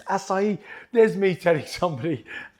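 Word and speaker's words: açaí: going on in there acai going in there is pronounced sa not a chi i saw an advert we've got quan once and he said get some acai its acai there's me telling somebody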